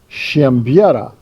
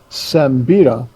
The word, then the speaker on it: Siembieda: did this once before, in Polish, my name is pronounced Shambi, but there's no H in it, and it just confuses people. So, we've gone with Sambida for most of our life.